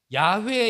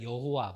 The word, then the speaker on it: 야훼: 놓쳐서 그렇지요 유대인들은이 성경을 읽다가 구역 성경에 있다가 야훼에 이단아가 나옵니다 그게 이제 우리 한국 발음으로 하니까 여호와 그렇거든요 근데 원래 발음으로 한다면 야훼이 말이 가장